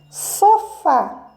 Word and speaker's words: sofá: é uma palavra proparoxítona sofá sofá sofá sofá né está na última sílaba né o som mais forte Então ela é uma